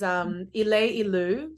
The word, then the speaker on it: Ileilu: So, so the group that you're referring to, which I don't think I mentioned yet, is Ileilu. So it's spelled ILEILU.